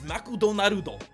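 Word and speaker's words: マクドナルド: don't understand is that you're throwing in so many extra syllables that it makes so freaking hard to read makudo naruto six mcdonald's three arguably two you're extending the word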